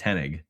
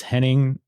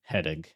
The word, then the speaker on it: Hennig: It's not ing. It's just ig Henig. Hennig.